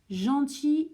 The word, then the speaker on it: gentil: Gentil, il y a un L, mais le L, on ne prononce pas le L, donc c'est comme s'il y avait un I à la fin.